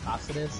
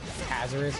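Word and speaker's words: Cáceres: All the white people say my last name, the way you actually pronounce it is Caceres in Spanish. All the white people like to say Cazares or Cazares, so I don't ever correct them.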